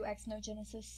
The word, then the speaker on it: Xenogenesis: Yeah, sure, he'll do Xenogenesis. Zeno! 1, 2, 3, 4, 1. No, it's Xenogenesis. Z! Z-E! It's not Z-E. No, but it is X-E, and it's pronounced Z.